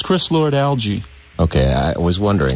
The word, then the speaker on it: Lord-Alge: well yeah it's chris lord-alge ii okay I was wondering because uh I've been there you want to say Laura Dalles or something but it's algae and when what is